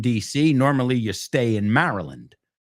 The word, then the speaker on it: Maryland: We don't say Maryland. Queen Mary Queen Mary is Mara Maryland, right?